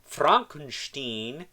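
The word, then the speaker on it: Fronkensteen: My name, it's pronounced Frankenstein. Right. Dr. Fronkunsteen, next to another character from Young Frankenstein, Igor.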